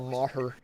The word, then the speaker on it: Maher: right now he do he just thought it was mayor but it's like bill maher you just always [